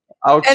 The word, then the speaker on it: Augsburg: I would fly into Munich, but you would take us to these other places like I can't pronounce it. My German is not that great. Augsburg. It's Augsburg.